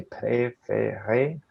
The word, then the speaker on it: préféré: And that means that it's way easier to pronounce it. So for example, you say préféré, and then this one, when an S and T are together, you ignore S and T.